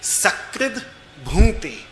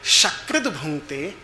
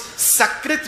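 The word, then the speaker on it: सकृत्: But if you mispronounce it and you will say, instead of sakrid bhunte, you will say shakrid bhunte, it means he eats excrement. Because sakrit means once and shakrit means human excrement.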